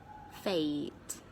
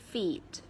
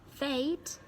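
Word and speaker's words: fête: talk about Tate holiday this word is pronounced fate is not feet it's not that it's not that it's fate eight so the word fate means entertain somebody lavishly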